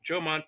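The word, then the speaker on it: Jomon: the the ancient Hman Jan people and it's pronounced Joman J O M O N just like the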